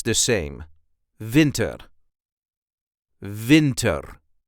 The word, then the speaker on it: winter: almost pronounce the same Vinter Vinter the emphasis is also on the first part of the word Vinter Vin Vinter and